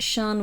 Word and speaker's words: Charn: wonderful listeners of R me this find more Shan if they want to they can find more of me at Shan comedian on Facebook um Shan c h a r n because as I